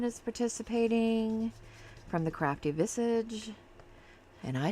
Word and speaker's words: Visage: My friend Dawn is participating from the Crafty Visage. And I said it right, Dawn. I didn't say Visage like I want to. It's Visage. That's the way she pronounces it.